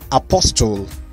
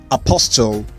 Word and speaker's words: apostle: is number five is apostle apostle you're going to be here nigerians uh say the t but in british english the t is silent apostle number one feel